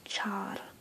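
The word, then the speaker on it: चार: there um usually um a lot of people write this out with two A's to distinguish the ah from the uh so like for zero it's shun where is for four it's Char that's four so now five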